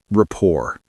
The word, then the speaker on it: rapport: These small questions build rapport. Rapport. That's a fancy word. How do you spell it? It's r a p p o r t. The t is silent.